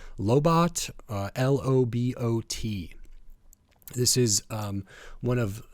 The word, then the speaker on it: Lobot: I think it's pronounced Lobot, L-O-B-O-T.